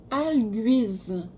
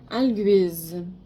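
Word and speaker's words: Algiz: Ah, en fait, on la prononce Alguise. Alguise.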